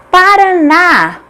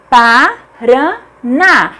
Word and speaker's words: Paraná: Paraná, Paraná. A última sílaba é tônica, portanto é acentuada porque é uma oxítona terminada em A.